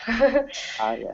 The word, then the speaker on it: enough: like um you know enough enough the GH is in English the GH will either be silent or it will make an F sound yeah okay thank you